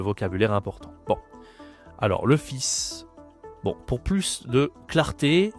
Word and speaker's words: fils: Donc deux fils, c'est de son. OK. Le fils, attention ici à la prononciation, ce n'est pas le fil. Ici, tu ne dis pas le S aussi et tu prononces le S.